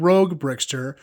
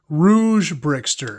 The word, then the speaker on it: Rouge Bickster: I said Rogue Bickster, but I meant rouge Bickster. This is not somebody who is into the toy as a hobby. This is somebody with rosy cheeks who likes to play with bricks. So, sorry, I said it wrong. Rouge Bickster is what I meant, not Rogue Bickster.